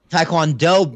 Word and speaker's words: Taekwondo: gave you the taiquan it is pronounced like Thai so it's not it's time taekwon Taekwondo baby or yes but